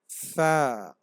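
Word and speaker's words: ف: আইন, আইন, গইন, ফা। ফা উচ্চারণের সময় সামনের উপরে দুইটা দাঁত ঠোঁটের সাথে লাগবে। ফা।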